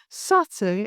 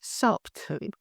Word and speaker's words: subtle: Imagine you're in the middle of an important presentation and you confidently use the word subtle, but instead of pronouncing it as subtle, you say subtle.